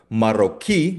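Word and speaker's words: marroquí: So for example yung Moroccan marochiquei ah pardon maroquei dahil may asento no sa letter I. So 'yung ah diin ay nasa dulo.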